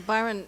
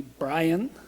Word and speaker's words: Byron: So Byron, what is the correct pronunciation that he keeps butchering? I won't remark on how he addresses you, Congresswoman, but he from time to time has called me Brian.